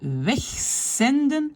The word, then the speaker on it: wegzenden: Et wegzenden, le Z est prononcé comme S.